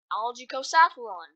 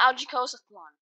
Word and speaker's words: Algicosathlon: tell we're back on algae Coast Athlon Yes you heard me right I was actually pronouncing it wrong it's not algaecost one it's algaeco saffron mime is bad I